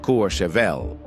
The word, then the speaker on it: Courchevel: Which brings us to the second most private neighborhood on Earth, Courchevel, 1850, France, pronounced Courchevel.